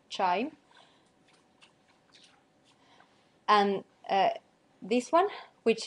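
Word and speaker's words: QIIME: but with small M this is pronounced uh chime which again doesn't make any sense but that's the correct pronunciation chime and uh this one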